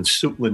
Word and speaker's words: Suitland: their headquarters is in suitland maryland are we pronouncing that right coco suitland yes okay it's basically washington